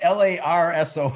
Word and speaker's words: Larson: So it's Larson. Oh, I said it wrong.